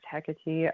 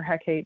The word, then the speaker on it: Hecate: this goddess i love the goddess hecate um or hecate depending how you want to say it it just depends kind of how you pronounce it um i love her